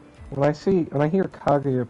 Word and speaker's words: Kaguya: I mean, she definitely tells you in the game to pronounce her name with a G when you meet her for the first time way back then.